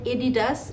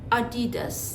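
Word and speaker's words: Adidas: কথা বলবো সেটা হলো অনেকে বলেন এডিডাস অনেকে বলেন আদিডাস কিন্তু এটার সঠিক উচ্চারণ হবে আডিডাস এখন আপনারা যে ব্র্যান্ডের নামটা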